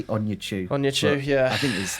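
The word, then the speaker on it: Onuachu: Was it like Paul Awantchu? I don't know how to pronounce it. Awantchu? I think I'll give you that. It is Paul. Yeah, but I say Onyechu.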